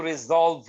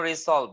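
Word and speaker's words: resolve: ঠিক আছে, যে উচ্চারণটা কিন্তু রিজলভ হয়ে যাবে, এরকম উচ্চারণটা এরকম হয়ে যাবে, রিজলভ। কিন্তু মনে হচ্ছে ভাই যেন রিসলভ, না, উচ্চারণটা হবে রিজলভ।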